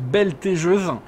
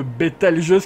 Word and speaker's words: Bételgeuse: lancer bételgeuse alors oui on m'a dit dans les commentaires que je prononce belle taiseuse a pour moi ça sonne juste beaucoup mieux que bételgeuse qui paraît vraiment bizarre donc je vais faire